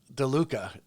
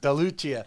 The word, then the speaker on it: DeLucia: expert i want to welcome you don't pronounce it deluca yeah yes yeah delucia you pronounced it earlier and everyone wants to